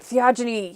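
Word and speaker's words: theogony: and they resumed the existence of Germanic theology theogeny I said it right theogeny yes together with the circumstances that that the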